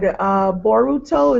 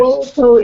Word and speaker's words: Boruto: Boruto is the Japanese pronunciation of the English word bolt, as evidenced by the bolt he wears around his neck.